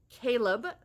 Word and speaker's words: Caleb: So the whole main plot of this is about these two characters, Ellie and Caleb. Thank you, Lynn. She told me exactly how to pronounce. It's like kale, like the vegetable. Caleb.